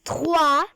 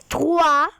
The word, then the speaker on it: trois: So it's number 3, and the pronunciation is trois. Trois.